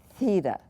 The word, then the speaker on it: theta: a line through it theta theta and it really should be pronounced heeda you got a little